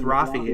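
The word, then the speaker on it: Raffi: does he pronounce it is it rafy rafy rafy see I always said rafy as a kid I don't know why it's an AR it's an Armenian name Rafi yeah oh okay well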